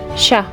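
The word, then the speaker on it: chat: In French, you usually don't pronounce the final consonants unless it is one of the letters in the word careful.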